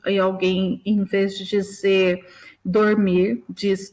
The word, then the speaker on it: dormir: Então, quando a gente ouve alguém, em vez de dizer dormir, diz dromir, né?